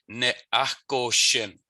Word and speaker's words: ne'achkoshin: So you have to remember to push that H out. H's that are in the middle of a Michif word are always pronounced. So ne'achkoshin, ne'achkoshin.